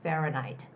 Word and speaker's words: Fahrenheit: western countries they use fahrenheit fahrenheit fahrenheit fahrenheit that's a word that has the first syllable stress so the stress goes on the a fahrenheit fahrenheit okay make sure to prepare